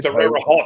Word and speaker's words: Terre Haute: Is it hot, Eric, or is it Hope? It's Hope. It's Terre Haute.